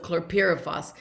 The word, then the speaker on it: chlorpyrifos: I also worked with our sisters and brothers to stop the use of chlorpyrifos, and I finally learned how to say it the right pronunciation.